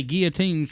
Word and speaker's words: guillotines: It's got 2 L's in it. I know it does. You don't even pronounce them son of a bitches when you say it.